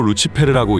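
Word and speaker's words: Lucifer: 루시퍼는 라틴어로 루치페르라고 읽으며 빛을 가져온 자라는 뜻이라고 하죠.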